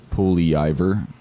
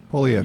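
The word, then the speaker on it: Poilievre: Poliev. It's got an R in there that's silent. It's like, dude, come on. Polyivor. Polyavra. Yeah, like, okay. Well, you've helped me pronounce it. Poliev.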